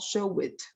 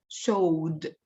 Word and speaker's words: showed: well into show it it's not show it it's not Ed it's showed showed showed so once again loved